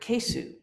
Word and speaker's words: keisu: say it in Japanese you hardly pronounce that U it it becomes almost